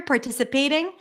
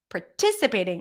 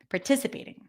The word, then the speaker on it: participating: desert dessert issue but participating is the right stress stress is on the T participating ooh this is a